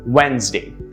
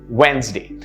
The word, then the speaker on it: Wednesday: the correct pronunciation is wednesday wednesday notice how it's only two syllables the d is silent of course this word